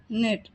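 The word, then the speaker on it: knit: जाता है नेट नेट यहां पर के साइलेंट होगा और एनआईटी का प्रोनंसिएशन किया जाएगा नेट सिलाई करना कपड़ों की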